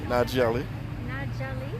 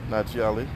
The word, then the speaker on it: Najee Ali: How do you say it? N-A-J-E-E. Najee Ali. Najee Ali.